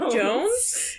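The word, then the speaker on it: Jonze: ever read it and it looks like it's spelled John's Jony but it's Jonesy but it's Jones but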